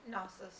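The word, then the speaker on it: gnosis: I'm pronouncing it, sister. Nosis.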